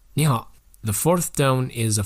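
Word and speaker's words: 你好: When there are 2 third tones in a row, the first syllable is pronounced with the second tone so that it's easier to pronounce it.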